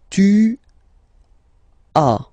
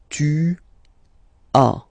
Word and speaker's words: tu as: Okay, second one, tu as. Okay, as usual in French, final S is not pronounced. Tu as.